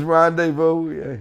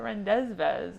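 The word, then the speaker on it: rendezvous: It was rendevu. Yeah. He's like, "The guy pronounced it rendezes."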